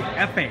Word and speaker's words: Ekpe: It's actually Epe. It's Epe.